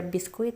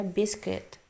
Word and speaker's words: biscuit: Jangan baca biskuit ya, biscuit.